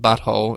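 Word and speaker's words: But Whole: So, so it's it's spelled B U T W H O L E, but when you say it South Park fractured butthole, it sounds like something else.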